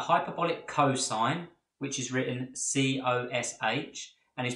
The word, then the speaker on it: cosh: sine CH the hyperbolic cosine which is written cos H and is pronounced cosh and the hyperbolic tanh which is